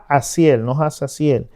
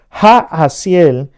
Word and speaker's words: Jahaziel: como el profeta Jahaziel, no Hazaziel. Se escribe Hazaziel, pero se pronuncia Jahaziel, le trajo la victoria.